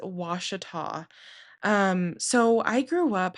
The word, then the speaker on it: Ouachita: the Ouachita National Forest and yes, that is how you say that word. It's spelled O U A C H I T A and it's not a Ouachita, it is Washita.